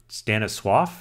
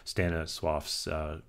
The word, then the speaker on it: Stanisław: It's named after Stanisław, I think that's pronounced. It's a Polish name, Stanisław Ulam, who lived between 1909 and 1984.